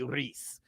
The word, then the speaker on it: Ruiz: Biz say the proper way to say it is Andy Ruiz.